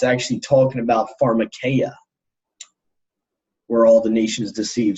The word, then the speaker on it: pharmakeia: It's pronounced pharmakeia.